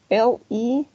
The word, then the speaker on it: leave: So these two verbs are different, right? They are not the same. This one is leave, this one is live. Sí, aquí tenemos un sonido largo de la I.